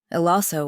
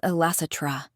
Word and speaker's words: Elassetra: Count Elaso or other. I forget. It's Elassetra, she said like she couldn't bear to hear his name mispronounced.